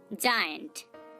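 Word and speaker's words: giant: Next উদাহরণ দেখুন, জায়ান্ট, জায়ান্ট, দেখুন এখানে আমরা জি এর পর আই লেটারটাকে পাচ্ছি, কিন্তু এখানেও তার উচ্চারণটা বর্গীয় জ এর মতো হচ্ছে।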